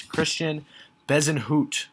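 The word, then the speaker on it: Christiaan Bezuidenhout: which is the reason the pronunciation is a little different than the french pronunciation uh but if you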